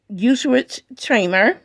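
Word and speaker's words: Gewürztraminer: It says the grapes of our Symbio 2020 gewurztraminer, pronounced gewurztraminer.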